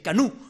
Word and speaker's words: Canou: Así Canú, perdón. Se escribe Canou, pero se pronuncia Canú.